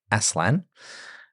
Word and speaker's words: Aslan: Turkish for lion and Jack prefers it prefers it to be pronounced as asan rather than aan with a hard s z uh and Lewis says that